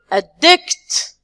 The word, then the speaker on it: addict: To addict. So we are going to stress the second one.